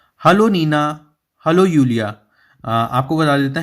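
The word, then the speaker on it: Julia: Hello Neena, hello यूलिया। आपको बता देता है जे का स्पेलिंग, जे जो है वो वाई जैसा साउंड करता है जर्मन में, तो हम इसे जूलिया ना पढ़ के जूलिया पढ़ेंगे, जूलिया।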